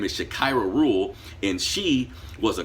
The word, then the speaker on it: Shakira: Her name is Shakira Rule, and she was a credit repair specialist where she would help people.